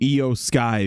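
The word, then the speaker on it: IYO SKY: from eio sharai to EO Sky because and they spelled EO I yo so people knew how to say it rather than just because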